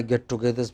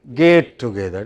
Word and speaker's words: get together: three or four alumni get togethers because they alumni bring money of course okay so so you know we always have lots of get togethers but many people pronounce get together as gate together gate is another matter